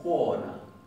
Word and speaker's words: kona: Entonces, esta palabra significa mujer, pero ellos no dicen kona, dicen jona, jona. ¿Se entiende la diferencia? Jona, jona. No dicen kona, nosotros teníamos kona.